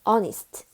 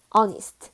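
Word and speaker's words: honest: 뭐예요 여러분 정직이란 뜻인데 스 하라고 나야 되는데 onist onist 이렇게납니다 그래서 아이랑 onist 요거 관련해 가지고요 hga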